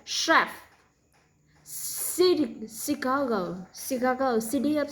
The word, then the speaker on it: Chicago: To make them is more difficult, there are a couple words that are spelled with CH, also pronounced sh. So was like chef, Chicago, city of Chicago. She, sugar, sure, shadow, ship, shirt, shoe, ship, Chicago, shape.